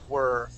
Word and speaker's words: were: the very beginning someplace not war but were okay I'll just type it in the chat box um uh this word here uh you had uh pronounced like where okay um now there's there's a difference uh the word that I typed in that word is were okay and where is with wh okay so that first